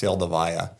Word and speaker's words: Seldovia: It's actually the name Seldovia is actually Russian. It's pronounced Seldovaya, from what I understand.